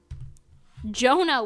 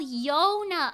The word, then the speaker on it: Yona: we don't know what they are it's possible Jonah what huh it's called Yona of the Dawn hold on it's spelled like this spelled like Yona of the